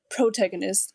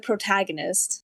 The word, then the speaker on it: protagonist: Where in the world do you say protagonist instead of protagonist?